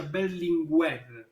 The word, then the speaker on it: Berlinguer: castellana aragonés también pero en italia se pronuncia berlin web enrico berlinguer háblanos de